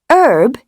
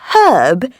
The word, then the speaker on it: herb: And Americans, please note, saying "erb" instead of herb, and pronouncing fillet as filet without the T is not clever or sophisticated. You are not French.